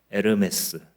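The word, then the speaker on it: Hermès: 허가 헤르메스에 풀어서 쓰면이 헤르메스를 불어로 발음하게 되면 h 음이니 에르메스 이렇게 이렇게 이제 번역하게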